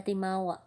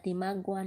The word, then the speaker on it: timawa: The timawa. The timagwa lagi. Ang pangalan, ang spelling kay Tima, Timagua. Ang pagbasa niya kay Timagwa pero ang pagpronounce kay Timawa.